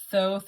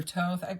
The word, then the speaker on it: Thoth: the apple, Thoth or Toth. I hear it pronounced both ways, but I don't understand how THOTH can be Toth if the first TH, the H is silent, and then the last TH isn't.